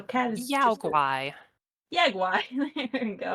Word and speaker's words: Yao guai: Yagwai. There you go. Yao Guai, like Yowie.